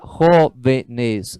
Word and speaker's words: jóvenes: Ó, ali, jóvenes, são 3 sílabas, é uma esdrúxula.